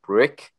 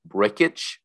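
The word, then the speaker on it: Brcic: I was planning on just calling him Brick, from Anchorman, because that would have been kind of funny. But it turns out his name is pronounced Brickich.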